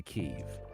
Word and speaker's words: Kyiv: Apparently Kiev is the Russian pronunciation. So the Russians would say Kiev. Kyiv. All the US broadcasters say Kyiv.